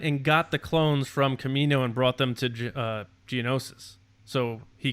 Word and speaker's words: Kaminoan: Persing had a patch that looked like Kaminoan, like the cloning thing. Have you guys seen that? You guys saw that? Yeah. Kaminoan. Kaminoan? Kaminoan? Kaminoan. Is that how it's pronounced? Yeah. Oh wow, I had no idea.